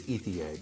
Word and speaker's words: Ethier: by popular influencer named Jeremy Ethier? Ethier? Haven't really been able to figure out how to pronounce his last name, but I believe it's Ethier because he is French Canadian.